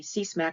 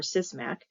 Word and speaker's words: CSMAC: And speakers will also refer to the Commerce Spectrum Management Advisory Committee, pronounced alternatively CSMAC or CISMAC, which offers NTIA expertise and perspectives on a broad range of spectrum policy issues, technologies, and potential reforms.